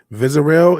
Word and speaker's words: Vizarel: Vizarel is how you pronounce it.